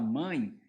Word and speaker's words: mãe: boca nada pelo nariz quando você fala mãe você tem ditongo mas não é um ditongo aberto né mãe ó tem o nariz mãe mãe né então os